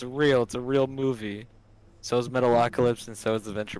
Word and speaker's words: Metalocalypse: So is Metalocalypse and so is the Venture Brothers. Dude, Metacopolis is tight.